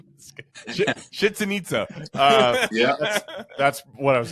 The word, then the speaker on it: Chichen Itza: For me, where it really hit me, I was in Chichen Itza, and somebody was checking a car out, and